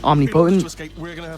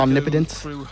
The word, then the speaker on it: omnipotent: You know, because Wheatley gets pretty annoying, which is why he magically appears right in your hands again, because he's omnipotent, or omnipotent would be the correct pronunciation.